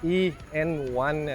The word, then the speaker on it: e:N1: I wonder how come Honda didn't name it n E1 that will be much a funkier name cuz it's just like any1 right NE E1 but no it's a e N1 and doesn't uh rhyme with anything okay basically uh you